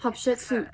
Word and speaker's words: Hatshepsut: Hatshepsut, that's how it's pronounced.